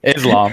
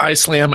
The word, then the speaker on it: Islam: The one that got the most pushback was some of my Islam ones, or Islam, I guess. I always say it wrong. People always give me crap. Islam.